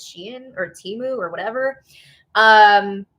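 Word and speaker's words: Shein: Also, um it looks a lot like a hat that was on is it pronounced Shien? I always thought it was Shine, but apparently it's Shien or Timu or whatever.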